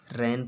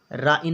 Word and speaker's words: rain: जैसे लिखा हुआ है RAIN, तो इसको क्या पढ़ेंगे, रैन पढ़ेंगे। राइन नहीं पढ़ेंगे, रैन पढ़ेंगे।